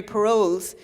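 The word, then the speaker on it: Perolz: do you know um have you ever heard of Mary paroles and your woman says I don't think that's how you pronounce that p r o p e r o l z and I said oh no no it is so we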